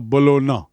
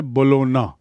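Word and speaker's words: Bologna: professor at university of बोलोना सी the spelling and the pronunciation उच्चारण है बोलोना जी silent and बोलोना इज इन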